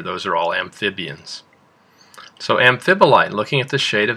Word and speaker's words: amphibolite: that shine glassy and our next rock is pronounced amphibolite do you know another word that has the same amphib in it that's right amphibian amphibian so what kind of